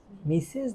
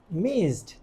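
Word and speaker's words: missed: কথা বলতেছি, উনি অনেক দূর থেকে আসে, শি মিসেস দ্য ট্রেন। এখন ওরা বুঝতেছে শি মিসেস, সে অর্থটা মিসেস দ্য ট্রেন, কোনো মিনিং নাই। এটার উচ্চারণ হওয়ার কথা ছিল মিসিস, মিসিস, মিসড।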